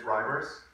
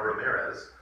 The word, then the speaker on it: Reimers: that came up is, most of my lay people have been mispronouncing that last name. It's Reimers. Half the time I get Reimers. Since moving to LA, occasionally I get a Ramirez.